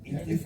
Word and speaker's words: IFFI: You pronounce it IFFI. It's the best way to pronounce IFFI, to get this wonderful honor.